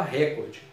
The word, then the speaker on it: recorde: No português informal, muita gente fala recorde. Se no português padrão fosse recorde, ela teria um acento, que ela seria o quê? Proparoxítona.